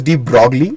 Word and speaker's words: de Broglie: But we don't spell it as de Broglie, we call it de Broglie.